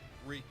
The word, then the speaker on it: Reek: Reek. It rhymes with squeak.